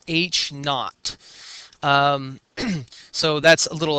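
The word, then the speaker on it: H₀: That's pronounced H knot.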